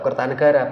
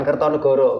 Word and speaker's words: Kertanegara: kepada para generasi muda bacanya tetap Kertanegara Bukan kertonegoro gitu selama ini kan juga